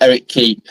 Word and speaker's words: Eric Ki: It's Eric Ki, but it's pronounced Eric Key.